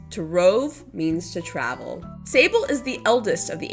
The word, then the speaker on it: Sable: Sable is the eldest of the Abel sisters and just like her sisters, Sable's name rhymes with her surname, Abel.